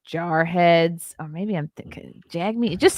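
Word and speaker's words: Jagmeet: or maybe I'm thinking Jag me it just sounds like a slur of some kind okay it's actually yeah it's pronounced jug meat which is strange me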